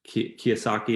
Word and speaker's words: Kiyosaki: Is that Kiyosaki, if I'm pronouncing it correctly?